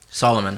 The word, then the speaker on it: Solomon: say how would you say your name Solomon Solomon how do you say your first name